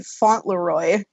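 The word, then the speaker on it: Fauntleroy: a weird name um it's actually font Leroy it's spelled f a u n t l r o y so weirder than any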